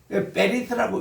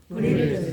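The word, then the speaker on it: בְּרִית: 베리트라고 읽기도 합니다. 베리트. 요즘 나오는 신학 용어들 보면은 이렇게 또 적는 사람 많아요. 이거는 미국이며 현대 이 히브리어 공부하는 젊은 애들이 그냥 아이고 이거 이 발음이 힘드니까 이거를 에라고 발음해버린다. 그럼 뭐가 문제가 생기냐면 스골하고 문제가 생겨요. 세골도 에인데 이게 이제 유성 그 뿌리 이거를 슈화를 에 발음해버리니까 그런 문제가 있습니다. 그래서 우리는 배울 때는 제대로 배우자는 거.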